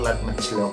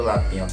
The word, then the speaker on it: Latnyo: Oke, di sini tulisannya kebanyakan tuh teman-teman kalau bilang liquidnya itu lat mecilok ya. Aslinya bacanya itu Latnyo dan katanya ini dari minyaknya sendiri itu berasal dari Swiss.